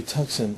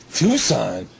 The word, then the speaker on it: Tucson: could break your ass what the hell is a hyundai tuxen i go do you mean tucson she said tucson is that how you say it i'm like yeah she